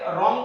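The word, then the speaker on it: wrong: यानी कि अगर आपके आर से पहले डब्लू आ जाता है जैसे यहां आर से पहले डब्लू आता है तो ये मौन रहता है। इसको हम राइट पढ़ेंगे रॉन्ग पढ़ेंगे रैप और रिस्ट हो जाता है एक्स्ट्रा। ये डब्लू साइलेंट है।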